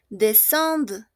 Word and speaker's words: descendent: Oui, on ne prononce pas E-N-T.